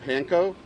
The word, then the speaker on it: panko: A lot of people see at the store, it's called panko. It's actually pronounced panko in Japanese.